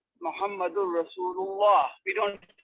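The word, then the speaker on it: رسول الله: The last harakah wasn't pronounced. In colloquial Arabic speech and even in the recitation of the Quran, we do not pronounce the final harakah. We do not pronounce the final harakah. If we were, then we would certainly have a kasra on the end of Allah.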